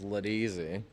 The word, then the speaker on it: Laudisi: It's funny because the proper pronunciation is Laudisi.